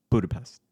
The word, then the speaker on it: Budapest: a river, and so there's the Buda, and then there's the Pesh side. So Okay. you combine them Budapest. together, Budapest. Okay. Yeah, I think that's how the locals say it.